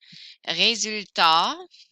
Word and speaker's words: résultat: Résultat. I don't hear the T.